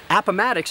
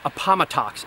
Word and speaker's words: Appomattox: And Appomattox is pronounced that way, not Appomattox, as I often hear it pronounced.